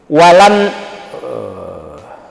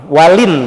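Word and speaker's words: وَلِنْ: Walan talaqqaf, kirain walan ini. Walin berarti ini bacanya.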